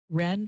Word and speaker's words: Wrenn: It's English W, but the W is silent.